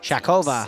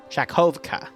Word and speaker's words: Shakovka: the town here at, Shakova. Did I pronounce that right? Shakovka, that's it.